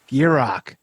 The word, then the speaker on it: Gierach: say your last name it's Yurok told you you just picture in your mind a deer and a rock I got it now